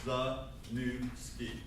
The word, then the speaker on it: Zaniewski: It's not a hard name. Okay, 3 syllables, Zaniewski.